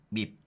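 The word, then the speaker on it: MIB: 이탈리아 mi 주수 있잖아요 요거는 밑 밑이라고 발음하라고 그래서 스톡 600은 0.18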